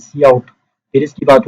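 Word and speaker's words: cout: तो इसके बाद क्या है, इसके बाद सी आउट है, प्रोनाउंस्ड इज सी आउट।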